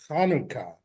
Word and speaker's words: Hanukkah: and the Jewish holidays, Hanukkah is really in Hebrew, it's Hanukkah. And there's no way to spell that in English per se, but the ch sound is just like the ch sound that a G would sound like in Spanish.